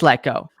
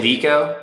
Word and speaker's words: Lecko: that's watching right now is your last name pronounced gecko it is let go okay see i thought in your bio it had showed with a g and i was like oh yeah i wrote it out hi phonetically it's like pronounced like gekko but that's good feedback i'll remove that okay yeah sometimes people say liko but it's let go i thought it was